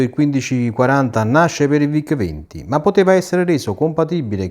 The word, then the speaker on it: VIC: Piccola curiosità, in Germania la scritta VIC viene sostituita dalle due lettere V e C in quanto la pronuncia di VIC in lingua tedesca rappresentava una parola ritenuta troppo volgare.